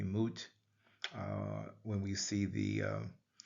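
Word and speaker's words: mwt: Uh pronounced usually moot.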